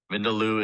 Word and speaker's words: Vindaloo: Your word is Vindaloo. Vindaloo. May I please have all of the information? Of course. Vindaloo is a noun. Vindaloo is the only pronunciation that I have here.